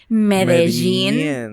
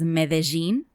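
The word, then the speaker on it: Medellín: So, the happy news of the week is in Colombia, in the city of Medellin. Wait, in Colombia, they pronounce it as Medellin. And in Spain, or the Spanish, they say Medellin.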